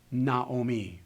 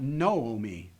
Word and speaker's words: Naomi: for example this word we know when we look at it that it's pronounced Naomi Naomi because we learned that her name is Naomi not noomi we know the word